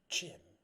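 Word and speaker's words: Gem: your companion this is Jim Jim like g-e-m Jim ah and that kind of rhymes with him is that what this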